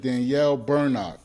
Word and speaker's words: Bernock: Today, I'm sitting down with Danielle Berno. Did I pronounce that right?